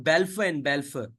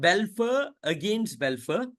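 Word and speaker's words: Balfour v Balfour: That's the reason you can see I'm pronouncing Balfour and Balfour, right or no? It's not Balfour against Balfour. It is not Balfour versus Balfour. It is Balfour and Balfour.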